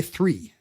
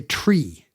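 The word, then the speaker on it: three: You're not supposed to say 3. You're supposed to say tree.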